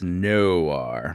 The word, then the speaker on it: noir: It's Noir. Noir films. Noir. Noir. Noir. The O really makes it it turns into a W essentially.